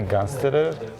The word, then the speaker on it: Gansterer: So, dear friends, today we are at IMPACT HUB with Lena Gansterer. Did I pronounce it correctly. Yeah, Gansterer.